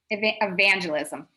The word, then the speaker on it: evangelism: pronounce that word rabbi evangelist realism evangelism second syllable god of course i